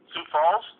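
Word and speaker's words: Sioux Falls: How is this pronounced? Sio Falls. Where are you located? Sou Falls. Oh Sou Falls. My bad.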